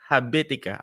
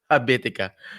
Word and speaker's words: Habitica: The goals, writing the goals, and he recommended an app, Habitica. I hope I pronounced that right. Yep, you did. That app, Habitica.